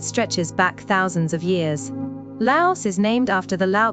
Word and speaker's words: Laos: Laos is named after the Lao people, but here's something interesting in English. We pronounce that final S. But in Lao, it's silent.